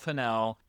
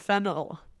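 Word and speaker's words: Fennell: The second being Emerald Finel is our least essential voice in Wow. You you pronounced it correctly. Yeah. Yeah. Emerald Fennel.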